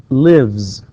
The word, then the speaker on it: lives: Whereas here, I said lives, runs, and I pronounced, and of course this is the way, of course, it is pronounced. We pronounce the S here, okay, it's pronounced as Z.